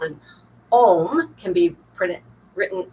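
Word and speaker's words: ogham: Part of the indigenous culture of the British Isles was a tree alphabet called anom. Can be pr written o g h a m or but pronounced like m like if you're meditating and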